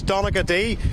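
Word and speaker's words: Donaghadee: very windy Where You Are yes and your pronunciation wasn't bad it is Dominica D this is where it moves to the Ulster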